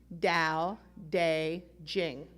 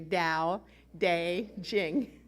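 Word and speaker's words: Tao Te Ching: dao day ching is spelled c-h-i-n-g but say it like there's a j instead of a c-h dao day jing say dao day jing i look at you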